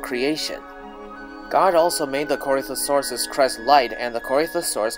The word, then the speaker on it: Corythosaurus: as they're being chewed of course the correct pronunciation is corythosaurus but if your name is Corey or if